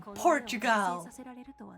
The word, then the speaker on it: Portugal: Nations I am from Portugal it sounds like Port you gal like if you spell it out you're from Port you yeah okay my